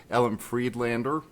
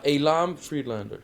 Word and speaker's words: Elam Friedlander: And I'm really excited to have with me today, Ellen Freedellander. I hope I'm pronouncing your name right. I'm terrible with names on this channel. It's Ellen, right? Uh Alam Freedellander. Yeah, Alam Freedellander. Okay.